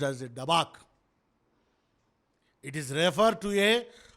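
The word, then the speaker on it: דבק: The cleave is an Hebrew word which is pronounced as a dabak.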